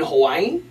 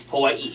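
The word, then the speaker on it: Hawaiʻi: You have to put a little ee in there, a little break. Ee. Hawaii.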